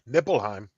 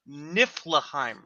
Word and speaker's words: Niflheim: It's pronounced Niflahheim. Nlheim. Right. Right. Right. But the way they spelled this was Niflheim. Nicolage. It is spelled Niflheim, but it's pronounced Niflahheim.